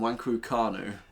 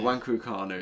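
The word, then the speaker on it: Nwankwo Kanu: Uh West Brom legend uh uh and Wanguanu. Have I pronounced that right? No. Wangukanu.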